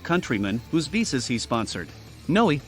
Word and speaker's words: Ngoy: An ambitious Cambodian refugee named Ted Ngoy was building a vast network of donut shops and staffing them with hundreds of countrymen whose visas he sponsored. Ngoy, the G is silent, started in La Habra